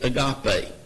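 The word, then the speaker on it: ἀγάπη: We generally, in hearing it pronounced today, agape.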